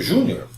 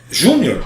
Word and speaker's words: júnior: meu nome por exemplo júnior júnior ele é uma palavra que deveria ser acentuada é o melhor que deve ser acentuada por quê porque olha aqui ó vou separar sílaba para você ó ó então júnior é o nome próprio é uma paroxítona terminada em r todas as paroxítonas terminadas em r são acentuar o júnior segue a mesma regra de caráter